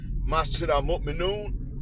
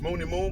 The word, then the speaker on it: Masjid al-Mu'minun: Masjid al-Mu'minun, sometimes referred to as Mooney Moon by the old heads who keep mispronouncing it, is run by an imam that don't play that stuff.